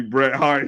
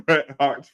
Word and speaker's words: Bret Hart: is don't you John it's supposed to be Bret Hart he just keeps saying I said Bret har every no no I said That's supposed to be Bret Hart's phras so he say it wrong every time